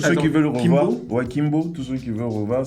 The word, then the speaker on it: Kimbo: Kimbo Kimbo c'est K I M B O. Intéressant. Ouais mais c'est écrit O comme comme Kibou. Mais mais c'est Kimbu de O. Désolé. Ça se prononce Kimbo.